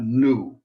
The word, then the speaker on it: nu: is an n a new so think of mu and then new not new is in something new but new uh moo and new n sound new m and n